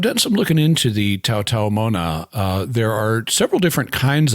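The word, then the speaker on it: Taotao Mona: The apostrophe is a glottal stop there, so it's Tau Tau Moana. Although it's not always pronounced.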